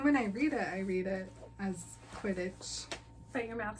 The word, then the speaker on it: Quidditch: I noticed a long time ago, and I've never said anything about it, but you pronounce the word Quidditch with a J. I do. Quidditch.